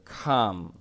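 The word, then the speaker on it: calm: কাম in this room এটা কিন্তু খাম এরকম হবে উচ্চারণ কাম ঠিক আছে আই ফেল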